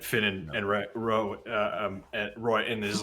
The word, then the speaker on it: Roy: and and Ro um Roy and is like sorry it's spelled Ro but it's Roy Roy um well it's Roe y so it's Roy Roy yeah um Finn